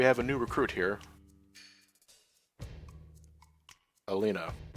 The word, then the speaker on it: Elena: a new recruit here Alena or Alena there's only one in there only one either well one in the middle it's Elena Elena Elena Elena anyway Elena is